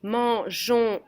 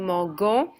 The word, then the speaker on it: mangeons: So if you don't put your E in this verb, you would say nous mangeons, and that does not sound right.